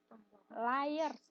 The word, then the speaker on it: liar: Layers bacanya bukan liar.